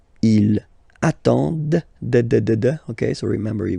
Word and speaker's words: ils attendent: And the last one, same thing, classic ending for il, elle at the plural form, ENT, but then you don't pronounce them. Ils attendent, de, okay?